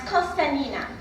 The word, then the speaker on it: Constantina: my name's constantina i'm five years old in greek you pronounce my name as cospanina that's how everybody says it because everybody's free and